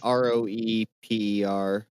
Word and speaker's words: Roeper: Yeah, there was also a film critic, Richard Roper, I think is how you say his last name. He published an assessment about it, and he It's Raper. No, it's Roeper.